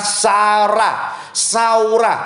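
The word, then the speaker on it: זרע: Nah, kata menabur dalam Amsal pasal 11 ayat yang ke-18, kata menabur menggunakan kata saurah, penulisannya Z-A-R-A, bacanya saurah.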